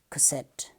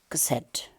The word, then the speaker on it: cassette: sounds set set so there are two syllables cassette here is the stress mark so English people placed the stress in this word on the second syllable cassette cassette consonant vowel consonant